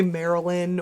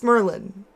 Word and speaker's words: Merlin: mispronounces my name cuz people say Marilyn or or or um what is it what is that what what else do they say Marilyn Marilyn it's it's Merlin like the wizard but